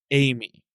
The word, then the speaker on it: Ai-Me: TCL's Amy, which, listener, is spelled AI-me. It's like AIME. 2 words, but it's pronounced Amy.